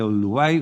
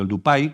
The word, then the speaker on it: Oldupai: La garganta se llama garganta de Olduvai o de Oldupai, como pronuncian exactamente en suajili, precisamente por este tipo